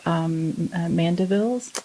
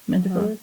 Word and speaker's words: Mandevilla: I had 2 mandevilles. Mandevillas?